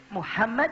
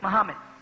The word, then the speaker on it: Muhammad: But most of you people, you don't say, "Muhammad." You say, "Mahammad."